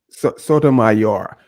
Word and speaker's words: Sotomayor: uh how do you say his last name Sotomayor Sotomayor there you go and he was on the